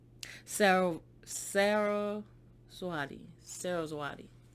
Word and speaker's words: Saraswati: i want to say her name right sarah sarah swati sarah zawadi saraswati okay so it was sarah's body uh-huh and